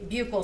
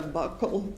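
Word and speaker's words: buccal: the jury what a bugle swab is? So, a bugle swab or a buckle swab depending on different people say it different ways. It's spelled B U C C A L and that is a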